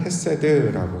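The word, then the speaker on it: חסד: 히브리어로는 헤세드라고 이제 발음을 하죠.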